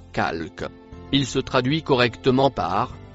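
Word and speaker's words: خلق: Le troisième mot en rouge se prononce calque.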